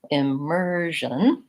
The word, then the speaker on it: immersion: immersion immersion and so in this word immersion the middle syllable gets the stress and my first file